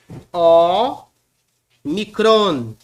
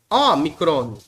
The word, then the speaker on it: ômicron: dessa letra aqui é o micron português gramática chama de ômicron no português mas no Grego é omicron omicron omicron como na palavra óleo e a vogal aberta omicron essa outra letrinha